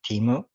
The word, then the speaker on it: Temu: I learned about temu is that how you pronounce it I thought it was emu or Tamil I'm not sure that's how I pronounce it you can pronounce it Timo I pronounce it temu yeah but that's because you have a Spanish accent oh I'm following Spanish rules did I tell you